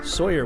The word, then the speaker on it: Sawyier: simple name exchange cuz I have an i in my last name and it's spelled Sawyer it sounds like Sawyer so Laura lawyer is